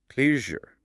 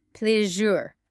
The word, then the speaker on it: pleasure: Yes, that word pleasure, it has that tricky sound in the middle. Pleasure. Like the word measure. Pleasure.